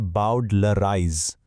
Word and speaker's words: bowdlerize: ये वर्ड है बॉडलराइज और इसका प्रोनाउंसिएशन है बाउडलराइज।